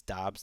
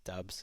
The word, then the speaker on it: Dobbs: over the last week it's dobbs not dubs and you guys have been saying it right apparently i was saying it wrong it's too bad dubs